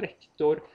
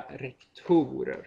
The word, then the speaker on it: rektorer: Och i det sista så hör man det ju väldigt tydligt att det heter en rektor men flera rektorer. Att det flyttar, betoningen flyttar i plural.